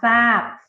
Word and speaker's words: ทราบ: ล่าง เป็น รอ เรือ ทร จะ ออก เสียง เป็น ซอ ทัน ที นะ คะ แต่ จะ